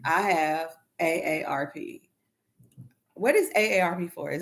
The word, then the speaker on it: AARP: I know, but it's AARP. AARP? WARP? It ain't no WARP. It's a double A.